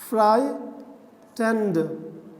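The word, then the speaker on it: frightened: इसको समझिए फ्राइटेंड। अगर हम बात करें रीडिंग की, तो यहाँ पर GH साइलेंट है, GH साइलेंट है। इसको पढ़ेंगे फ्राई, फ्राई टेंड, ठीक है, टेंड।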